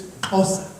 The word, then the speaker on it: Xhosa: It's not Xhosa, it's Xhosa. Okay, I want everybody to try this. And they say white people can't click. It's like, okay, that's the X. That's the X click.